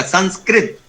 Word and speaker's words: संस्कृति: इसका देखिए जो सही उच्चारण है संस्कृत, जो भाषा अगर हम बोलते हैं क्री, का के नीचे जब री लगी है तो उसका उच्चारण होगा क्री, वो क्र नहीं होगा, संस्कृत नहीं होगा, संस्कृत नहीं, क्र नहीं, कृति। जैसे संस्कृति बोलते हैं, मैंने कई बार देखा लोग बोलते हुए, वो त्रुटिपूर्ण उच्चारण है।